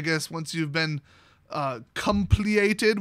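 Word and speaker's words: compleated: once you've been uh compliated which i've heard is pronounced completed even though it's not how they spell it i thought they were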